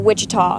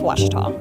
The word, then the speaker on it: Ouachita: Back in Texas, everybody pronounces it Wichita, but really it's Ouachita.